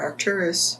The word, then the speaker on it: Arcturus: the opportunity to go back home to the Arcturus, is that the correct pronunciation? Star system. The star Arcturus.